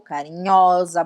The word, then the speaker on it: carinhosa: Que o S entre duas vogais, ele tem som de Z. Então, a pronúncia é oso, carinhoso, carinhosa, bondosa, bondoso, tá?